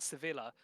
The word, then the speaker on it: Sevilla: thing so I was at Sevilla or sevil depending on whether you want the English or Spanish pronunciation anyway um they that's